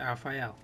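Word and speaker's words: Elphael: Yeah, I think that's the correct way to say it, Alphael.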